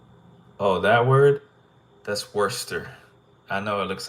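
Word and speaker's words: Worcester: looks like Worchester but it's not Worchester it's Worster why because it is you that's just how English works unfortunately I don't think anyone could get Worster without knowing that it's spelled like that there's no way you could guess that that's how it said even the sauce I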